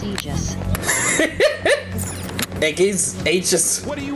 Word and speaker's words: Aegis: Why does it say her name like Eggies? Lottie Thotty. Her name is Aegis.